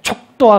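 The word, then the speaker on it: 蜀道: 그런데 이백은 아마 이것을 바로 촉도와 같은 식으로 읽었을 겁니다. 이 험준함이 슈다오라고 읽는 것보다는, 부드럽게 읽히는 것보다는 촉도 했을 때 그냥 가슴이 무너지는 것과 같은 이와 같은 것들이 옳다는 거죠.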